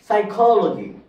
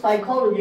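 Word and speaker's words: psychology: ওয়ার্ডটা সবাই পরিচিত সাইকোলজি সাইকোলজি দেখেন সাইকোলজি বানানটাতে পি is silent P এর উচ্চারণ কিন্তু হচ্ছে না পি এর উচ্চারণ হচ্ছে না তারপর দেখেন সুনামি সুনামি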